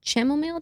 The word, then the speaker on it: chamomile: Try relaxing teas, warm teas, like the chamomile, that's how you pronounce it.